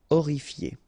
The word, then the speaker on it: horrifié: Same thing here. You don't pronounce the H. Horrifié.